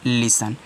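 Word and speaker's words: listen: और यहां पे एन है तो हो गया लिसन तो इसको आप लिसन पढ़ोगे लिसन मत पढ़ना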